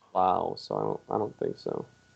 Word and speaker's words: Lowe: Well, he pronounces it Rob Lowe, and Brandon Lau pronounces Lau, so I don't think so.